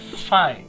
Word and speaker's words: Phi: or you have something like this and we pronounce it as Phi is a Greek letter or Greek word fine